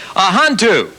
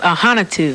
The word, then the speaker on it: Ahanotu: right we have ahantu how I do well my last name is pronounced aanu I knew it I